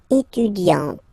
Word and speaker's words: étudiante: Okay, but then for the feminine form, elle est étudiante. Okay, t. Okay, you don't really insist on the E, but you insist quite much on the T. Elle est étudiante. Il est assistant.